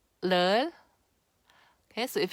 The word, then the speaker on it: 를: Okay, on its own, if I were to pronounce leul by itself, just on its own, it's leul, leul, right?